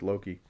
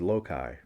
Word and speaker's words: Loki: When I was a kid, I pronounced it as Loki. And when I found out that it was Loki, I thought that was so ridiculous. Because Loki sounded hokey. Loki sounded jokey.